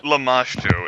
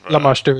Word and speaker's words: Lamashtu: I mean, Llama Stew. That's basically how I've. Yeah, Lamashtu is probably the right way to pronounce it.